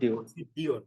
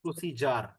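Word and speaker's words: procedure: এটা দিয়ে একটা উচ্চারণ আপনারা প্রায় ভুল করেন, এই যে প্রসি, এটাকে ডিউর আপনারা অনেকে বলেন প্রসিডিওর, বাট উচ্চারণটা প্রসিডিওর না, উচ্চারণটা হচ্ছে প্রসিজার।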